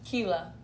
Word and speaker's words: Keella: see that um is kela how do you say your name keela so like you would say tequila but without the ted you just said kila